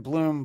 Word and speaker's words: Blum: books and uh your your name is Jordan Bloom but it's spelled Blum Jordan on Instagram and